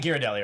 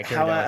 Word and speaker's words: Ghirardelli: You mean Ghirardelli, right? However you pronounce it. G-H, yeah, Ghirardelli. However Okay.